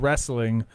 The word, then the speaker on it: wrestling: yes yep and then wrestling which has a w in it it does not wrestling